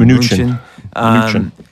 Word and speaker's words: Mnuchin: Mnuchin.